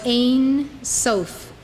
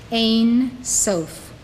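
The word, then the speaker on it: Ein Sof: use to describe God prior to Creation was Ain sof write it down it is spelled in two words e-i-n then s-o-f Ain soth this means Without End self is usually translated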